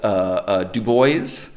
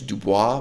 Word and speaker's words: Du Bois: intellectual leaders people like Du Bois so in proper French his name is Du Bois but his preferred pronunciation was Dubois WB Dubois you know